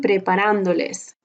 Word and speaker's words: preparándoles: Estoy preparándoles té. It has an accent mark. When you put a pronoun right there, you're going to put an accent mark on the second to the last syllable.